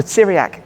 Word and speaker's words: Tiriac: thoroughly recommend stopping by the Syriac collection to pronounce it the correct way apologies for my British